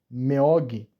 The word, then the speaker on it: 먹이: A pronúncia seria Meog.